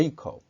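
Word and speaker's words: Jacob: 아이 석 이렇게 발음합니다 그리고 야곱은 언제 이 크 업 이렇게 발음하고 유다는 은 지우다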